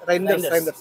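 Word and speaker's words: Reijnders: Bisa Bacanya gimana sih namanya? Reiner. Reiners ya? Reinders.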